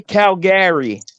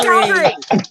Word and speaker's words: Calgary: How do you say Calgary? Oh my god. No, if you say Calgary, you're not from Calgary. Calgary. It's Calgary, Yeah, like Calgary. grr. Like you're Calgary. making me No, grr. Calgary, like No, if you say no.